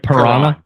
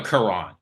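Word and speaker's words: Kiran: tackle sometimes played right like piran no Kuran like like the Kuran yeah wow that it's spelled k i r an but Kuran he's uh a tackle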